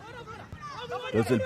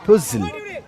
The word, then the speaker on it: Puzhal: The pronunciation for, I mean, in paper they look like Puzhal, but the pronunciation is Puzhal FC.